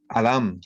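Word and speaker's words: אדם: Esta palabra se pronuncia en el hebreo Adam, ¿no?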